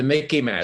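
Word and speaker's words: MICIMATT: uh write it down it's the mickey man it reminds me it rhymes sort of with mickey mouse okay so you can remember it easy mickey madden m-i-c-i-m-a-t-t military industrial congressional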